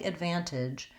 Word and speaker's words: advantage: Today's word is the word advantage, and the word advantage has 3 syllables, and the stress is on the second syllable, van. And so we see that marked in the dictionary with this little line here before the stress syllable. And what you want to think about is that you're going to hold your van syllable long.